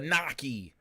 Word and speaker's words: gnocchi: and of course his favorite kind of pasta noi uh that's just how you say it going